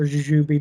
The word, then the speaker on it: jujube: others, like your loquats, jujurenes, or jujube, depending on how you want to pronounce it, mayhaws, mulberries, olives, and pawpaws.